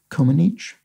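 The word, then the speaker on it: Comăneci: out that the surname of nadia c-o-m-a-n-e-c-i is pronounced coma niche and yes i did i looked this up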